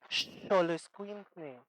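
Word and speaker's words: xoloitzcuintle: Y por último tenemos la X, que la X siempre va a sonar como en esta palabra, que es, ¿cómo se pronuncia esto? Eso, oso, como si fuera una SH, xoloscuintle.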